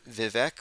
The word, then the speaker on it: Vivek: Or actually, I think, isn't it spelled, or it's Vivek, or is it, someone said it rhymes with fake.